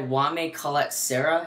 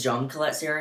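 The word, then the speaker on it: Jaume Collet-Serra: It's directed by Wame Colette-Serra. It may be Jean Colette-Serra. I'm gonna go with Jean Colette-Serra because that's how some of his associates pronounce it.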